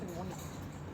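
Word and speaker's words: pneumonia: Spelling में पी आता है लेकिन प्रोनाउंस करते हैं तो कैसे करते हैं? निमोनिया।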